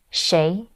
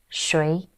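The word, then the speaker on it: 谁: or shay okay so this character has two pronunciations shay or shui either one is good okay so we will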